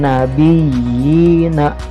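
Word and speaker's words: النبيين: dengan huruf ia sukun Oh ya er membacanya agak ditekan ya dua harokat and nabiyyina Ya udah ada contoh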